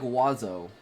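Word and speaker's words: oiseau: Is it oo or is it It's pronounced like wazo.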